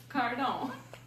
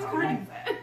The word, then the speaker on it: Carden: Jeff Hill, and Joe Cardon. No, Carden. Cardin. It's not French. I always say his name Cardin. Just like it sounds. Like a card.